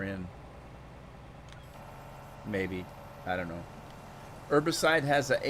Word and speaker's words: herbicide: to do it more in america we the the h is silent we call it herbicide oh god let's see